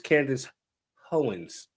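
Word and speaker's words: Candace Owens: just oh my fa I I said her name wrong it's Candace hoens yeah she's one there's a few people out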